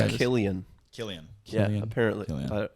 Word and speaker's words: Cillian: Apparently, it's pronounced yeah. Killian. Killian. Yeah, Killian. apparently. Killian. Yeah. fucking bad with He's names, 47 man. years old. Holy shit. Well, you'd think it would be Cillian.